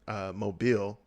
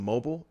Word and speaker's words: Mobile: city there that is spelled Mobile. We all pronounce it Mobile in Alabama. But the first time I ever heard anyone pronounce it like correctly was when I moved to Seattle.